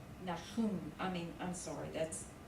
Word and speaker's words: Nahum: Well, the first syllable would be the noon and the patak.